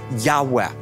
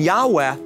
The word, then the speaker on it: Yahweh: are calling god Jehovah and this is a mispronunciation of God's holy sacred name a breathy Yahweh and the reason that the Gentile church is calling upon God by Jehovah oftentimes rather than Yahweh is because the ancient Jewish scribes actually did